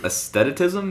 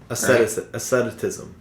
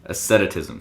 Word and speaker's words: asceticism: Hedonism versus aestheticism? Is that what it is? I think ascent. Like it's ascending. Asceticism. Asceticism. So hedonism. Got it. Hedonism. Hedonism. I'm pretty sure it's hedonism. Hedonism versus asceticism.